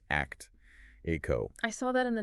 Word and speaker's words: ACTIQO: It's spelled ACTIQO, pronounced ACT, ACO.